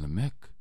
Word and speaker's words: Lamech: Enoch, that all led to the story of Lamech. And Lamech, or Lamech, however you want to pronounce his name, had two wives, Adah and